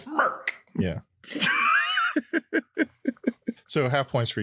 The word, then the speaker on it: Merck: I'll give you half points because you're really close, but it's Merck. MERCK.